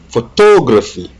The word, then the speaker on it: photography: est sur le photographe stress on second syllable photography photographie et là aussi